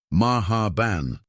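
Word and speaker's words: مرحبا: "The H is pronounced from the back of your throat like you're clearing it gently." "Maha ban," Marcus attempted, sounding like he was choking on expensive whiskey. "Better, but the emphasis is on the first syllable."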